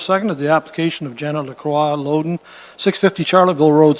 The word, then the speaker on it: Lacroix: Lacroix. You're pronouncing it right, but I use it in English because most people have trouble to pronounce it.